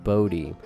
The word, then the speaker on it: Body: Bill Bodie's last name was actually spelled as the word body but pronounced Bodie.